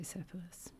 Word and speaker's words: Cephalus: Cephalus, I see the or I I near the English is pronounced the Greek is spelled with a K, Cephalus. Cephalus. That but let's just say Cephalus.